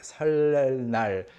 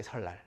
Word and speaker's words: 설날: Your tongue is touching the ceiling of your mouth, inside. 설. And then you have to, drag it out of there and then place it between upper and lower teeth. 설날. It's so much work. So people just say 설날, 설날. Okay? So 설날 is the Korean New Year's Day. 설날. So 설날. This is how it is always pronounced.